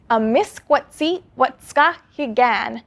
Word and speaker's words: amiskwaciwâskahikan: I dug into it and I found the video responsible for this terrible pronunciation. Amiskwaciwâskahikan.